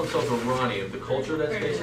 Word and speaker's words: Iran: Iran is a fantastic song by a group called the Flock of Seagulls of the 1980s. Iran so far away. But we don't, it's actually, the correct pronunciation should be Iran.